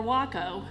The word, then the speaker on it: WACO: But Weaver Aircraft Company, or WACO, which rhymes with taco, was named after George Buck Weaver, a civilian who instructed military pilots in WACO, Texas.